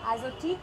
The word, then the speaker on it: Azotiique: Azotique, am I saying it correctly? That's right. That's the correct pronunciation.